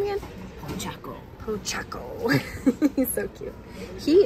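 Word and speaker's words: Pochacco: Pochaco.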